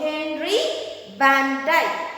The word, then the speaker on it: Van Dyke: So, we should be pronounced as we. It is not we. Okay? So, Henry Van Dyke.